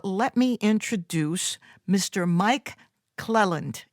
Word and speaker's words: Clelland: me introduce mr mike clelland am i saying it right it's a cle lindell clelland which is perfect the first time okay good that's what